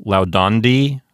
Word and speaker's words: laudandi: So gerunds will always have the accent on the penult. Let's think of the gerund forms of laudo. We'll have laudandi, laudando, laudandum, laudando.